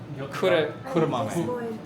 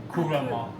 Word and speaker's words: Kuromame: Well, I mean kuro kuro Kuro kuro mami. Kuromame. Kuromame, kuromame. How do you spell it?